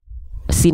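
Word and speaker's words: س: Oke, yang ini kita nggak akan terlalu bahas jauh-jauh karena senatural itulah huruf sin dilafalkan sebagaimana kita melafalkan huruf S pada abjad alfabet.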